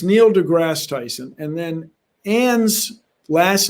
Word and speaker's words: deGrasse: so first of all it's neil degrasse tyson people try to add syllables but in french you